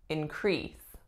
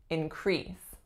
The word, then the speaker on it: increase: verb we would say increase increase I need to increase the number of hours that I work so you'll see that the sounds are exactly the same it is just the stress that flipped really same idea for